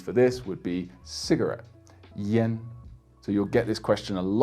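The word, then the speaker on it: yan: Now we've got the, let's say, the 10A. It's got the same pronunciation as the E in 10, and of course the E in the Mandarin pronunciation, yeah. And you'll only hear A pronounced this way in Chinese for this particular syllable, yen, and another syllable, which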